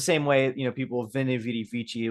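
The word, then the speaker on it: veni, vidi, vici: But it's the same way, you know, people, Vini Vidi Vici was actually pronounced Winnie Vidi Vici.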